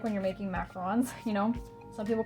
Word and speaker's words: macarons: At least I know that's what they're called like when you're making macarons. You know, some people call them macaroons, but they're actually pronounced macarons on those little sandwich cookies that are French.